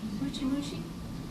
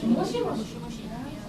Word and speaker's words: moshi moshi: Mushi mushi? What is it? Mushi mushi? Mushi mushi. Moshi moshi.